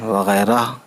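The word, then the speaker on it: وغیرہ: वैसे रह कहना चाहिए लेकिन वगैरह नहीं कहते, वगैरह कहते हैं, यानी हा की आवाज़ साइलेंट मान लीजिए आप।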